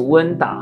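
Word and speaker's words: 吴恩达: 么念哈，这个发音很特别哈，这个温达哈。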